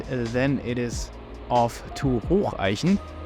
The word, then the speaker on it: Hocheichen: We then proceed to Hatzenbach, and then it is off to Hocheichen, Hocheichen.